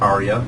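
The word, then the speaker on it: AREAA: that that is um we pronounce it Arya but it's an acronym for the air um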